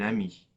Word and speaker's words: amie: If it's a female friend, we're going to add an E at the end, une amie. Okay? Now, the good news is the E is silent, okay?